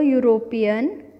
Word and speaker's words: European: Because the pronunciation is u. It doesn't have the vowel sound. Even the word begins with a vowel, it doesn't have vowel sound, and so we write a European and not an European.